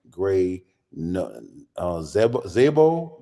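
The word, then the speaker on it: Grey Zabel: At number 18, the Seahawks selecting Gray Zebo, that's how to pronounce it?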